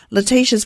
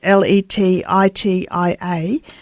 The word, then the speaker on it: Letitia: So on Letitia's Facebook page, you can find an easy way.